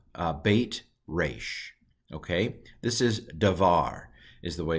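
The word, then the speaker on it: דבר: Okay, this is Davar, is the way it's pronounced.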